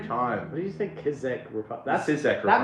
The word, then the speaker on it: Czech: I don't know why it's spelled that way, but it's pronounced Czech.